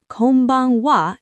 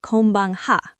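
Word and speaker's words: こんばんは: This is a special grammar rule in Japanese, where the particle ha is always pronounced wa. Konnichiwa, wa, not ha. Exactly. Same with Konbanwa. It's Konbanwa, not Konbanha.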